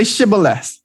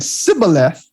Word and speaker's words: Shibboleth: If they replied no, they said, all right, say Shibboleth. And if he said Sibboleth, because he cannot pronounce the word correctly, they seized him and killed him at the fords of the Jordan.